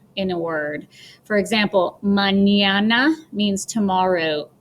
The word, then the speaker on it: mañana: For example, mañana means tomorrow. So pretend that it's spelled M-A-N-Y, mañana, and piñata.